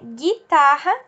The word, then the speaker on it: guitarra: O G e o U pode não ter o U pronunciado quando ele é acompanhado de I e de E. Por exemplo, né? Guitarra e guerra.